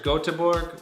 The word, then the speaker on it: Göteborg: on couchsurfing you can stay at backpacker backpackers göteborg which is a swedish pronunciation of gothenburg GOTV bo RG and it's